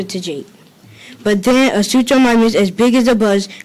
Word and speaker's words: Suchomimus: Suchomimus is pronounced Suchomimus.